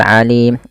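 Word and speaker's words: العليم: Sami'u mad tabi'i, ul alim alif lamnya alif lam qamariyah, alim. Nah, di sini alimnya yaitu mad arid lis sukun.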